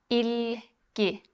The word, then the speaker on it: İlgi: İlgi. Interest. İlgi. İlgi. İlgi. İlgi. İlgi. İlgi. İlgi. İlgi. İlgi. This is the same sound as in the middle of the word sit in English.